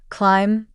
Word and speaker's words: climb: with the knife next the silent B in words like comb climb and thumb the B isn't pron anounced I need a comb